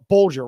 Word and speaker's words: Bulger: And Bulger, right? Am I pronouncing that right?